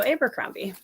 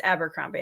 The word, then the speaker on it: Abercrombie: So I think it's Abercrombie. I apologize. That's how I say it too. I think Daniel Green says it Abercrombie, adds on the third syllable.